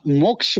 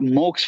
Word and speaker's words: मोक्ष: बोलते हैं क्यों सर क्योंकि संस्कृत में ये जो प्रोनाउंसिएशन है वो नॉर्मल इंडियन वो बोल नहीं पाता है सर मोक्ष हो गया क्षत्रिय हो गया जो ऐसे स्ट्रेस वर्ड्स है ना सर वो नॉर्मल इंडियंस नहीं बोल पाते हैं वो सिर्फ ब्राह्मण